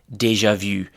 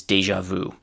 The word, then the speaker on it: déjà vu: The first uh word from this category is deja vu. That's actually the French pronunciation and the pronunciation in English is deja vu because here we have actually an established English pronunciation.